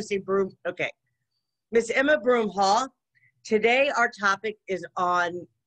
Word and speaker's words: Broomhall: i want to see broom okay miss emma broomhall today our topic is on uh shadow work